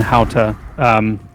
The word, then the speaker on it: Hauta: So Launa and Hauta, that's how I pronounce it.